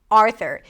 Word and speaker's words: Arthur: There is no U sound.